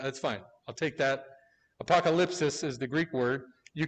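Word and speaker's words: ἀποκάλυψις: say it again, but it's the way I've always said it is apocalypsis. That's not how you pronounce it in Greek. It's apokalypsis. It's like apokalypsis or something like that.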